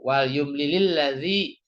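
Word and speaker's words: وَلْيُمْلِلِ الَّذِي: Nah, ini kenapa jadi yumlili karena dia mau disambungkan dengan huruf yang mati ini gitu kan. Jadi bacanya jadi wal yumlili gitu. Wal yumlilil ladzi harusnya wal yumlil.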